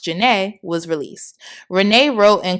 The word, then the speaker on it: Zhané: On February 15th, 1994, their debut album, Pronounced Janae, was released.